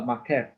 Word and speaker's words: maqqef: Okay, this is what you call a makef. Okay, makef. Don't worry about this one yet, right? It's spelled as MAQQEF.